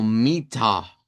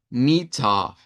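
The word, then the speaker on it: Mitter: Que sería m i doble t e r, vamos a pronunciarla como mita con una a centralizada, mita y note que esa a es más grave, no suena como esa de marina, que marina ahí como si supiera el a en el isva.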